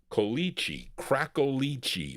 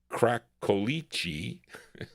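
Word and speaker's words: Cracolici: Crackichi. Crackichi or Cracki. See, CI is pronounc CI is pronounced chi in the Italian language.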